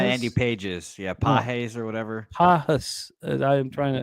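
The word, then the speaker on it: Pagés: Is that how you pronounce it? Pajas? Yeah, apparently it's not Pajas? Andy Pages. Yeah, Pajes or whatever.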